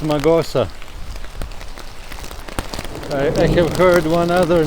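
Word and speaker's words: Mağusa: my trip to or as far as i hear in turkish it's pronounced magosa i have heard one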